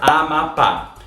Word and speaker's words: Amapá: Quando eu falo, por exemplo, a palavra Amapá, a primeira coisa que a gente faz é dividir silabicamente e a gente percebe que a sílaba mais forte é a última, ou seja, Amapá É uma oxítona.